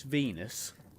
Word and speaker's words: Venus: to this one okay why is Venus which rhymes with penis in case anyone wonders